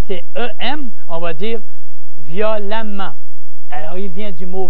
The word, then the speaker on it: violemment: C'est quand c'est E-M, on va dire violemment. Alors, il vient du mot violent, E-N-T, l'adjectif violent. Violemment, E-M, même si on prononce violemment.